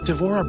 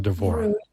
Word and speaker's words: Devorah: Devorah Brinckerhoff is a professional artist of over 30